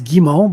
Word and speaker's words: Gimmo: Uh close. It's Gimmo, but most people pronounce it like you do, so I don't take offense like it's a French name.